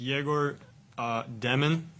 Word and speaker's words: Egor Demin: For Egor, I just want to first ask, how would you like us to pronounce, your full name? It's Egor Demin.